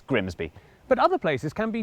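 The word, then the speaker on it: Grimsby: Take this place. Looks simple. But what if we told you it was pronounced? We'd be lying. It's Grimby.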